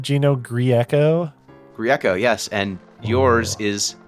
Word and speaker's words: Grieco: of grecos and uh most people just give up the best is when people try to pronounce my last name and they add syllables that just aren't there like i've i've heard griekio and i'm like where